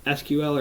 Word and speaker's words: SQL: things like server-side inclusions SQL SQL or sequel injection depending on a little word it or pronounce it I should say tampering with